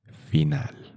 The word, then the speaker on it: final: So the pronunciation of the word final in Spanish, it is final.